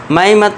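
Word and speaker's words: May: इसे पढ़ेंगे हम मे म ए मे मत पढ़ना। ये गलत हो जाएगा। इसका करेक्ट प्रोनाउन दोस्तों हमारे ये जो मंथ महीनों का नाम ये मे है इसे हम मई नहीं पढ़ेंगे। इसे हम मे पढ़ेंगे।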